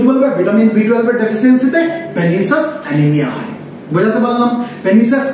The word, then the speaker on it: pernicious: আমরা কিন্তু এটাকে পার্নিসিয়াস অ্যানিমিয়া বলবো না, PERNICIOUS, এটাকে পার্নিসিয়াস অ্যানিমিয়া বলবো না, এটার প্রপার প্রনাউন্সিয়েশন কি, পেনিসাস অ্যানিমিয়া। তাহলে ভিটামিন B12 এর ডেফিসিয়েন্সিতে